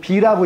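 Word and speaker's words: 否: 부정한다고 할 때 분데 이거 괴 이름일 때는 비라고 읽습니다.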